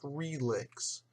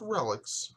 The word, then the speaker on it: Relix: And no, it's not pronounced RELIX. It's RELIX, I've been assured.